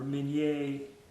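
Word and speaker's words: Minié: Hollow base, mini ball, or minier bullet as it's pronounced.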